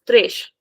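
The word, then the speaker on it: três: So it is important number three is thresh with a soft sound thresh because it is ending in the letter s.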